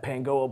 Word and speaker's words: Pangoa: That's how it's pronounced. Pangoa Bowl, exactly.